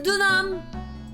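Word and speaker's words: Deauxnim: Is the X silent? Donum? Is it Donum or something? It's French, I think. Dunam. Dunam. Dunam! Elise Dunam! Okay, it is silent.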